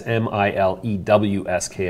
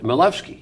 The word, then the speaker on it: Milewski: pronounced like oh look they're pronounced like a V huh like so it's finding their Levski like malevsky yeah that's exactly right